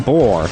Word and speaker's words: Bor: So during that conflict, the father of Odin, Bor, Get it? Rhymes with defeats Thor.